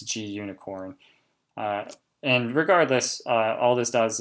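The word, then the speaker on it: Gunicorn: something called G unicorn I've heard a pronounced Ghana corn I don't find that a very attractive pronunciation and the documentation shows a unicorn so I'm under the belief it's G unicorn and regardless all this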